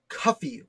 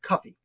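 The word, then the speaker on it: Cuffee: And in this article, I also discuss his slave, which I believe is pronounced Cuffy Whipple. C-U-F-F-E-E. Like coffee, but with you. I believe it's pronounced Cuffy.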